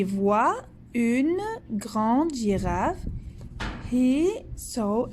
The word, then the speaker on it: voit: Et voit, voit, le T, on ne la prononce pas.